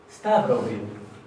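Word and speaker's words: stafrófið: Stavrovil. Esto se pronuncia casi como si cada F fuera una B corta.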